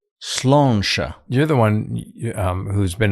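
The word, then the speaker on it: Sláinte: Is it pronounced Slánte? Slánte.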